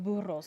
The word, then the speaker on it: burro: Like, how long would it take them to get there in burros? Because I believe only burros can go down there, right? I like how you roll your R's.